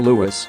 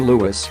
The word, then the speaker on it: Louis: one of his middle names, but in choosing Lewis, Prince William is honouring the memory of his father's beloved great-uncle, Earl Mountbatten of Burma. In picking Lewis, pronounced Lew-is not Lew-is, William and Kate appear